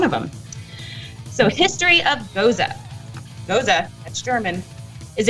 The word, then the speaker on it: Gose: them so history of goza goza that's german is a traditional sour ale pronounced goza like mimosa it is an unfiltered